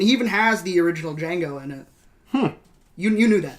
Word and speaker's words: Django: The D is silent, hillbilly.